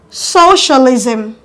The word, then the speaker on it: socialism: syllable at the beginning now the end with suffix ism are stressed on the first syllable at the beginning examples are socialism socialism capitalism capitalism favoritism